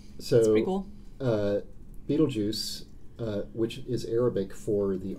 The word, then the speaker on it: Betelgeuse: know it's so equal Betelgeuse which is Arabic for the armpit of Orion apparently the hand of Orion for different pronunciations what's your favorite oh yeah there's Beetlejuice Beetlejuice we're just the saying a